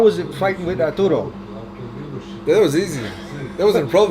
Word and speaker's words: Ertuğrul: Okay, so by now you guys know we're talking about how do you pronounce the series that you started? Diriliş, Ertuğrul. Diriliş, Ertuğrul. Ertuğrul.